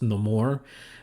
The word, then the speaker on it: Namor: uh of course we get introduced to um Namor or as it's pronounced in the more which I love that about the character they